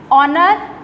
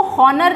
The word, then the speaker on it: honor: Okay, अब silent H है ऑनर, इसको हॉनर नहीं पढ़ते, इसको ऑनर पढ़ते हैं।